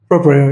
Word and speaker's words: Proprio: He's from Proprio. Am I pronouncing correctly? Proprio, yep. That's Proprio, right.